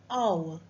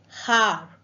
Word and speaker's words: hour: for dash hour children it's hour not har so H is silent pronunciation is starting with